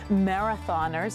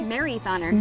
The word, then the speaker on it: Marythoners: I have to run into my shot today because in honor of the Mount St. Marathoners, is that, am I saying it right? Marythoners. Marythoners.